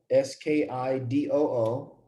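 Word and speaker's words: Ski-Doo: reverse so um a company called uh skidoo s-k-i-d-o-o what do you think Skidoo would make you really pronounce it Skidoo but what do you think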